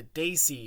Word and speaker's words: desi: early on by yourself it would be pronounced the daisy hit squad so can you just